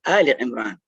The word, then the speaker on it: Al Imran: Many times people pronounce it as Ali and then Imran. It is not two names, Ali and Imran. It is Al Imran. Al means the family of Imran.